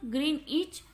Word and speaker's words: Greenwich: It passes through the Royal Observatory at Greenwich, pronounced Greenwich, in the United Kingdom, and hence is also called the Greenwich meridians.